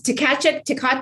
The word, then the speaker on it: Tkachuk: Tkachuk.